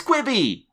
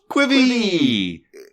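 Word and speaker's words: Quibi: on that but uh first up kieran it's quibby quivi connie it's quivie yeah it's quibby connie are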